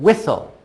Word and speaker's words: whistle: together what yeah then the T is silent and then all and